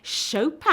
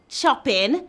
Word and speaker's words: Chopin: the polish child prodigy Chopin I know you don't pronounce it choppin be chopped up one